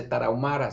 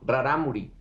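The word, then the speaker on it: Rarámuri: que me enseñó que no se dice taraumara se dice raramuri lo eh vi su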